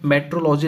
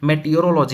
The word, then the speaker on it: meteorology: मेटोलॉजी नहीं होता है। बहुत लोग ऐसे इनको प्रोनाउंसिएशन करते हैं। मेटोलॉजी नहीं मेटियोलॉजी होता है।